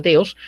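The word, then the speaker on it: θεός: La palabra teos o deos, escrita teos, pronunciada teos, es la palabra significa Dios.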